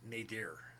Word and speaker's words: Nadir: I think it's pronounced Nadir. I'm most positive.